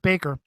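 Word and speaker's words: Bakker: basically uh Jim backer even though he spells it backer it's pronounced Baker Rick Rick Joiner was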